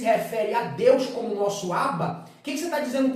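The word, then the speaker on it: אַבָּא: isso aqui gente você vai ler aba e qual o significado de aba a palavra aba é uma palavra em aramaico que significa papai ou seja quando uma criança começava a aprender falar a criança falava abá abá igual a criança fala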